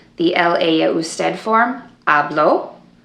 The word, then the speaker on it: habló: For example, the el, ella, usted form, habló. If you didn't say hablo with the accent on the O, then it would be hablo. And that's just the present tense yo form.